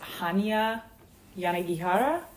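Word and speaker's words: Hanya Yanagihara: a little life H I believe it is pronounced Hana yanara I could be saying that wrong but I I love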